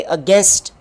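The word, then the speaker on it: against: अगेंस्ट। और ये देखें, इसलिए हम कहते हैं कि स्पेलिंग के हिसाब से आपने आगे नहीं बढ़ना है।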